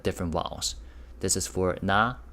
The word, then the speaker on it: 나: Consonants. Nin, n, and sound with the vowel a. So that becomes na.